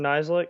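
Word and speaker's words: Nizialek: the punter in 2017, whose last name I have a hard time pronouncing? Cameron Nislik or Cam Nislik?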